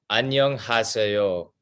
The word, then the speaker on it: 안녕하세요: 안녕하세요. Onion, 하세요. Very good. Wow. Your pronunciation's awesome.